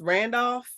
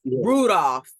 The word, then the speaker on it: Rudolph: to talk about trout Travis Randolph is that how you say his name yeah Rudolph Rudolph Travis Rudolph he's a former NFL